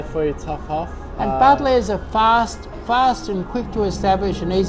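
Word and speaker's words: Buddleja: It's got a silent J in the name, hasn't it? Yeah. Yeah. Budger.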